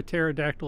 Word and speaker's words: pterodactyl: So Beef Griller said, why can't you hear a pterodactyl in the bathroom? Because the pee is silent.